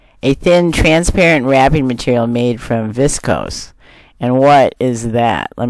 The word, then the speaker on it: viscose: There's a pronunciation. Cellophane is a thin, transparent wrapping material made from viscose.